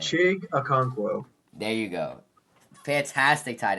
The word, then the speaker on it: Okonkwo: Zach Ertz was phenomenal, but mind me on my pronunciation. Check Awano Onkawanowu or whatever. I forget his last name. Chig Okonkwo.